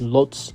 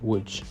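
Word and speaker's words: Łódź: you're probably looking at the spelling thinking that's pronounced Lots not wood but the correct pronunciation is wood now there's nothing in particular that's really wrong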